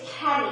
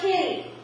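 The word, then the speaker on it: kedi: His name is Keddy. Everyone say Keddy. Keddy. Keddy. Keddy is spelled K-E-D-I. Keddy is the Turkish word for kitty. So you know some Turkish language already. Say Keddy. Keddy. You said kitty.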